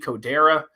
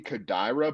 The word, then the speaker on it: Kodaira: the win i'm going satoshi kodera uh do you know if i'm mispronouncing that by the way i think it might be kodaira but you got the